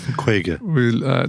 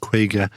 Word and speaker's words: Kwayga: supply chain partners and the reason that craig is called craig or quagga is because quake is the irish word for 50. it uh phonetically sounds the same spelled slightly differently for